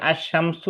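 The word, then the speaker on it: الشمس: যেমন আশ শামসু উচ্চারণটা যেরকম ওইরকম হইলে হরফে শামসি।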